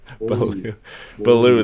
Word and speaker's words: Beaulieu: Bellew.